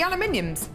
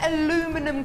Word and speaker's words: aluminium: Oh wow, the aluminiums. The aluminum. Aluminium. I don't know where aluminum comes from. So Americans say aluminum, don't they? But it's spelt aluminium, isn't it? They put O's in everything.